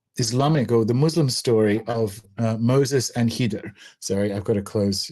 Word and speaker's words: Khidr: The Islamic story of Moses and Khidr, and that's spelled like Khidr, and I'm going to try and say Khidr because that's closer.